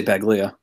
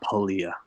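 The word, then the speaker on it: Paglia: it says I say beg Leah I heard her correct somebody once and say it's Paul yeah tal yeah Camille Paul I guess the G is silent but for a long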